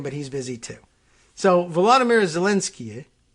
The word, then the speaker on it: Volodymyr: So Volodymyr Zelensky, which if you say it quickly enough and naturally enough, you wouldn't hear that extra syllable anyway, or at least you detect it maybe, but not be sure what to do with it in English.